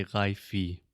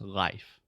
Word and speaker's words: life: with an E and a lot of our students just automatically think that means you say the e sound you don't it's just life life cool is yes it's